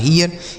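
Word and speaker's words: here: ध्यान से देखिए, इसके साथ अगर आर होगा तो इसका उच्चारण EA हो जाएगा। क्या हो जाएगा मेरे दोस्त? EA। तो इसे पढ़ेंगे ही, आर से पढ़ेंगे रो, यह लिखा है हियर, इसे हीर नहीं हियर पढ़ेंगे।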